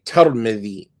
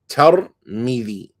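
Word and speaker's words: ترمذ: I lived amongst them for 12 days, is that they pronounce it with a ta and a fatha on the ta and a kasra on the meme. So they say Tarmidhi, Tarmidhi, Tarmidhi, or Tarmidh, right? Tarmidh.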